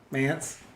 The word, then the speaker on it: Mance: Rhymes with pants. Pants? Mance? Yeah, pants. Mance, all right.